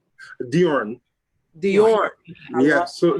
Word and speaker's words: Djorn: say your first name diorn dior yes so so there's a famous tennis player bjorn work back in the day bjorn so it's just a d all right and then